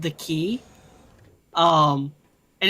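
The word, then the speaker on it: Cay: books is called the key um and it's spelled uh k c a y but it's actually pronounced key because like the for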